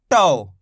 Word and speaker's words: टो: इसको अपन ने कैसे पढ़ा था? टो। तो पढ़ा था, यहाँ पे ओ का उच्चारण जोड़ा था, ओ की मात्रा है। यहाँ पे औ की मात्रा है तो टौ।